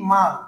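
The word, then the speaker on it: 말: খেয়াল করে দেখো রিউল বর্ণ আমরা লিখছি, যদি শব্দের নিচে বসে তাহলে ল উচ্চারিত হয়। এখন এই হচ্ছে কি আমাদের একটা শব্দের উচ্চারণ হয়ে গেল, তাই না? তাহলে এই শব্দটার উচ্চারণ কি? মাল।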